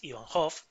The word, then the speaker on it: Ivanhoe: Su obra más famosa es Ivanhoe, así se pronuncia.